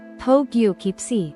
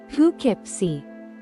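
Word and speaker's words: Poughkeepsie: we have pipy this one might look like Po kipy at first glance but actually it's pronounced H kipy yes Pipi it's definitely an unusual spelling but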